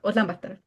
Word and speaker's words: Ulaanbaatar: Oh my God, but the pronunciation was so nice. Ulaanbaatar.